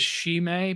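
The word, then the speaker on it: Chimay: So is it or is it chime? Because that's why I call it trime. I've heard it pronounced sheime. I've like I think that's the French French pronunciation is sheime.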